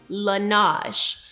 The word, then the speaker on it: Laneige: But anyways, it's called Laneige. Say that with me. Ready? Laneige. You guys should see how we had to spell it out on my little board so that I didn't say it wrong, because I definitely was walking around called Laneige for a long time.